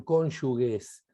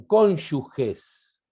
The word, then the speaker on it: cónyuges: diría la doctora casal no son cónyuges son cónyuges y se los va